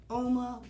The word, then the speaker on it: Uoma: Again, Uoma Beauty, O-U-M-A, it's pronounced Uoma.